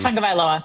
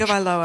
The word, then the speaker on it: Tagovailoa: Here is Tua, and I can never pronounce his last name. Tagovailoa. Thank you very much. Tagovailoa.